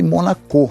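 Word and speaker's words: Monaco: Então eu citei a Stephanie de Monacô, né, que é a pronúncia francesa da palavra de estou princesa.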